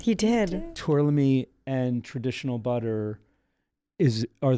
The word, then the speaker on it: Tourlami: is there a big difference between us using tlam I said it right he did tlam and traditional butter is are the ratios really